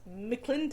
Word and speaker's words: McClintock: the fox captained by francis leopold mcclintock and it's spelled m apostrophe c-o-i-n-t-o-c-k so it's mcclinton i like that he had already been involved